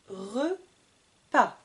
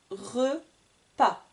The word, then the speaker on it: repas: Un repas. Le S est muet, on ne le prononce pas. Un repas.